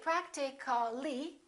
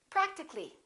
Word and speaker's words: practically: practical we don't say practically we drop the a and we say practically physical how would we